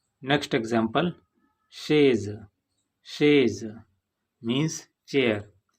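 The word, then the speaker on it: chaise: Next example शेज। शेज means चेयर, इसमें भी एस दो वावल्स आई और ई के बीच में आया है जिसका प्रोनाउंसिएशन सॉफ्ट है।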